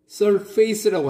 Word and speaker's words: surface: 우리 한국인은 이 단어를 surface라고 합니다. 그런데 원어민들은요? Surface. Surface. Surface. 스트레스가 맨 앞에 있습니다.